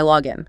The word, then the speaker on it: login: But when we use the noun, the single word referring to the credentials, the stress falls heavily on the first syllable. Listen to the noun. Here is my login.